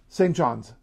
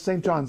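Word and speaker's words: St. John's: city of Newland is St John's note the apostrophe s it is St John's it is not St John St John is in New Brunswick St John all right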